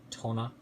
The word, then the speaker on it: TONOR: I believe you pronounce that TONOR.